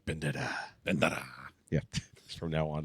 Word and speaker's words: Bandera: Bandera.